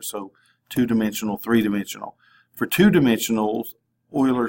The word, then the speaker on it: Euler: It's talking about verifying Euler is really the better pronunciation.